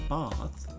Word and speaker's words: Bath: But um after that, we went to a city called Both. That's how they say it. It's spelled like bath, like a bathtub, but they pronounce it bath.